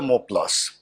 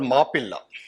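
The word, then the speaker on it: Mappila: So who are the Moplas, or who were the Moplas? The term Mopla is actually an English corruption, mispronunciation, or rather a English pronunciation of a Malayalam term called Mapilla, which literally means son-in-law, damad.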